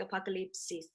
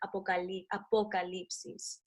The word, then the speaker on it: apocalipsis: It's like apocalypse with an extra "is" at the end. So it's like eclipse, so the apocalypse is, but you gotta kind of like pronounce the O with the vowels, the Spanish vowels.